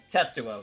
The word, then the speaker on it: Tetsuo: move on to the next one you can't pronounce uh that's well let me try tetsuo tetsuo yes yeah yeah he is you did it